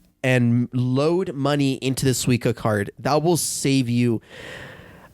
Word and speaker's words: Suica: And another one in Japan is if you're gonna get around Japan, get Suica.